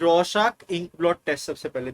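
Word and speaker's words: Rorschach: ये रशाक बोलते हैं बट रॉस चाच है।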